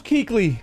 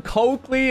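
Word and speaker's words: Kuechly: Oh, that was close, Keekly. I need y'all to tell me something, though. Who used to call him Coakley and Kookley? Who pronounced his name wrong the first time?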